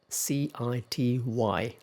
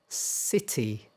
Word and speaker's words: city: c i t y So, first one, city city city city Which is more familiar to you? Okay, I said the British pronunciation first.